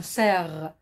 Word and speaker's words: cerf: de mes élèves jeudi un cerf j'ai pas prononcé le f parce que c'est une lettre muette qui se trouve à la fin le cers est un